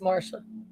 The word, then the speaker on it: Marcia: Good luck to Michael and Marcia." Or is it Marcia or Marca? Mara spelled Marcia, but it's pronounced Marsha.